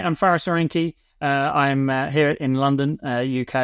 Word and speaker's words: Faris Aranki: And in the studio, we have my friend Faris Aranki.